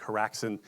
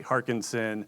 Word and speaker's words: Haraksin: Having a name like Haraksin, people say Harkinson, Haraskin. I even got harassment as my last name.